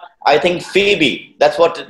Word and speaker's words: Phoebe: It's, I think, Phoebe. That's what it's pronounced as, right?